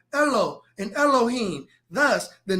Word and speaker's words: Elohim: and here's the word Elohim the a in Elohim right here is silent okay and you can